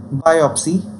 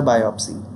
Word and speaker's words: biopsy: In its pronunciation, there is stress on bio syllable, and here's a usage.